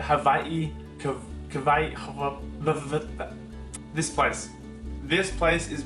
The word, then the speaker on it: Hawaii: Or as locals say it, Hawaii.